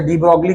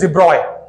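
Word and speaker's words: de Broglie: डी ब्रॉगलीज hypothesis, वैसे डी ब्रॉगली गलत pronunciation है, जो हम लोग डी ब्रॉगली लिखते हैं ना, ये प्रोनाउंसिएशन बराबर नहीं है। इट इज डिब्रॉय, इट्स डिब्रॉय।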